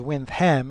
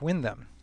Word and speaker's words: Windham: ever wanted to know why wind hem is pronounced as wind hem and not Windham the official story goes that the second Earl